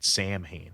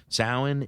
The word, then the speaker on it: Samhain: of his previous band samhain and i think it's pronounced samhain um like in gale or whatever celtic gaelic uh it's pronounced sound and from here on